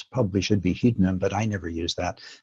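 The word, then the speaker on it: Hydnum: the letter Upsilon which allegedly was pronounced like the French U as in Du So in theory it's probably should be hdim but I never use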